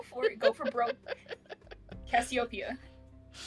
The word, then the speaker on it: Cassiopeia: Cassiopeia. Cassiopeia. Well, not actually one syllable, but you know what I mean.